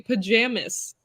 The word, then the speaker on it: pajamas: It doesn't You would often say pajamas. Yeah. It's supposed to be the Z sound at the end. The S is a Z sound. And I make it an S sound and they make fun of me.